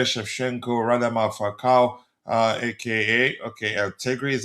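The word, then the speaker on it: Allegri: Altegri is how you pronounce it.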